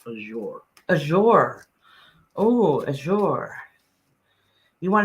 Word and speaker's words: Azure: like ah i yeah like azure yeah okay so that's how you pronounce it yeah so the